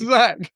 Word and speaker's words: Itzhak: You definitely said Zak. Itzhak. That's yeah. That's his name. Itzhak. This is crazy. It's Zak. Okay. Yeah. That's how you pronounce his name.